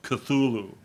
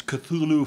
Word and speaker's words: Cthulhu: text, The Call of Cthulhu. And again, you start running into problems already with his weird pronunciations. He says it's supposed to be pronounced like with a snarl.